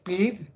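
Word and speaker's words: בית: Hebräisch Bet, wird Bet ausgesprochen, heißt das Haus.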